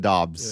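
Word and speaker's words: Doubs: know who he is we'll call him dabs yeah I think they pronounce it Dobbs okay close enough yeah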